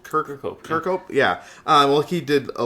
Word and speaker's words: Kirkhope: I can never pronounce his name, but it's Grant Kirkhope. Kirkhope.